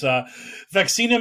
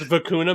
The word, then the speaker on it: vacuna: It's Vacuna Matata. So you know what I'm learning on the podcast today is you just don't know how to pronounce Spanish words. I don't. Your Caucasian tongue cannot parse these sweet Spanish words. Vacuna is Spanish for vaccine. Aha! I did not. And it rhymes with Hakuna.